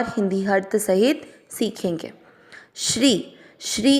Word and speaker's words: श्री: श्री श्री का अर्थ हुआ श आधा शंकर जी वाला और र पूरा, उस पर बड़ी ई की मात्रा श्री।